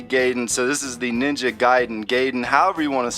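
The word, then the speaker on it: Ninja Gaiden: so this is the Ninja giden gayen however you want to say it I I call it gayen but I think it's actually pronounced ninja giden but it says hyperactive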